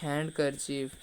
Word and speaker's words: handkerchief: meaning interviewed rendezvous with ray means interview next handkerchief find the silent letter we should find the silent letter in